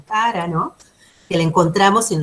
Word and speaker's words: Chara: Es así que si nos vamos hacia la izquierda tenemos plantas que viven totalmente sumergidas, como cara, se escribe chara, pero es cara, ¿no?